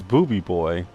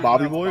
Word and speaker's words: Booby Boy: Is it supposed to be pronounced Bobby Boy or is it actually Booby Boy? It's booby boy.